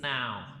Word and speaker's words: não: Usually English speakers have a difficulty with the nasal. It's not "Não sei", right? It's "Não". You say "Não". Não. Very good, right? This is the secret. You got to make this face. Não. Não. Right? It's like a cat.